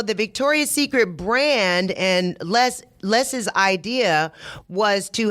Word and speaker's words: Les: documentary now last not Lee I said it wrong it's Les Wexner so Les Wexner was